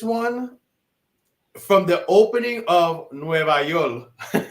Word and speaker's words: Nueva York: from the opening of Nueva York, because you gotta say it like that.